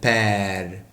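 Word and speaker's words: père: بحط الاكسون ايه؟ مكتوبة جراف، يعني اتجاهها ناحية اليسار، تبقى بير. كأن نطقت زي صوت الاي بالانجليزي. تمام. بس مفتوح. على عكس ايه هنا؟ على عكس ايكول. تاني قلت هنا ايكول، لكنها بير.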